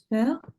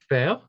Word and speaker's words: faire: an idea maybe of how you would pronounce the verb? Faire. Faire.